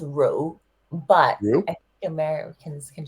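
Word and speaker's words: Rượu: pronounce the name of your scotch show it's pronounced Ru but I think Americans can just say Ru which R Rue yeah is like who like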